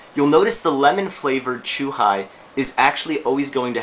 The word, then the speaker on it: chuhai: Our next one is what we call chuhai. Chuhai. And you'll see it's spelled C-H-U-H-I, which looks like it would be chu-hi, but it's actually chuhai as in a highball.